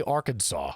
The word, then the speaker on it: Arkansas: here arkansinian arkansas arkansas why is it it's spelled our kansas but they say arkansas what is that but